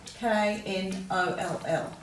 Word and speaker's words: knoll: So the silent K you'll see is often followed by an N.